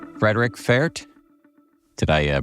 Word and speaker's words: Pferdt: Frederik Pferdt. Did I pronounce that correctly? Absolutely. Welcome to the show. Thanks for having me. Pferdt. And I do pronounce the P, right? You do, yes.